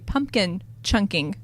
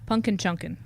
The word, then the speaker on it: Punkin Chunkin: going to do a pumpkin chunking contest that's not how you say it how do you say it punkin chunkin okay well we will